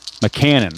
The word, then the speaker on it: McCannon: It's easy to remember because it's like the cannon from a cannon from like in wartime or something.